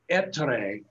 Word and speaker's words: Ettore: but um it's it's it's pronounced etre in italian um and that's what